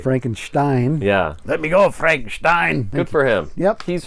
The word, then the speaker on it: Frankenstein: So now he pronounces Frankenstein like Peter Cushing does. Okay. Frankenstein. Yeah. Let me go, Frankenstein.